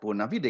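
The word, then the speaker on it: bona fide: Sebenarnya Bonafide saja, tulisannya Bonafide itu dibaca lumrah saja Bonafide karena itu bahasa Latin.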